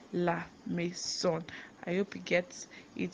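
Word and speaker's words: la maison: lison that's a house house in French is laon and it's spelled l a m a i s o n laon laon I hope you get it so let's go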